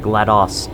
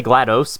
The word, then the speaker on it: GLaDOS: I know most people say GLaDOS, but I'm going with GLaDOS, because it's like, that's how you pronounce DOS. DOS. You don't say MS-DOS, do you?